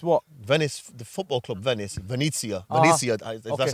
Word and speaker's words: Venezia: Venice, the football club Venezia. Uh-huh. Venezia, if Okay. that's how you pronounce Yeah, it, right?